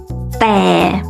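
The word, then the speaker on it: แต่: And the word but in Thai is แ ต ่ DT means that it's the mixture of the D sound and the T sound. It's like when you say the word stop, it's the T. Stop.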